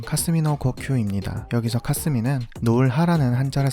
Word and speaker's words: 霞の呼吸: 존재하던 호흡법이었던 것 같습니다 안개 후배 일본어 발음은 카스미노 코큐입니다 여기서 카스미는 노을 하라는